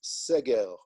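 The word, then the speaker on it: סגר: um the word for lockdown in hebrew by the way is seger in english you would spell it s-e-g-e-r okay so i've gotten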